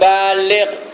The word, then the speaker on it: baligh: pertama Akil yang kedua baligh bukan baligh ya baligh ba alif lam gain baligh b a l i g h baligh ya retinya apa